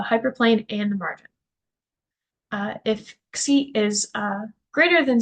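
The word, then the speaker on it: ξ: So we're going to say if the slack variable xi, that's how you pronounce this, xi, is equal to 0, then the point is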